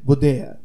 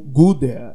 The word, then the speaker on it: Gudea: olhos trecho do do cilindro de gdea ou gooda a pronúncia não é tão importante acadêmicos norte-americanos falando sobre o cilindros irão falar gudea mas em português não há nenhum problema em falar gdea É só uma questão de pronúncia de acordo com o idioma Vamos à leitura da